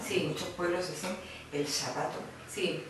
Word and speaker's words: zapato: ¿Le cuesta aprender que zapato se pronuncia con Z? No, porque además yo lo exagero mucho. Cuando yo lo exagero mucho digo, hay que sacar la lengua entre los dientes.